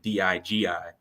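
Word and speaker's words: Dygi: to spell it so it's pronounced Digi but it's spelled d-y-g-i I love it I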